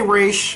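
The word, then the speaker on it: Ra's al Ghul: christopher nolan only movie people like to say razakul i say race um you know i go from what the animated series taught me how to pronounce his name correctly so rachael you helped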